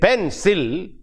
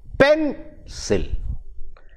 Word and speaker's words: pencil: you see we mo we give more emphasis to the first sound sound unit rather than the second one we don't say pencil we say pencil but there is no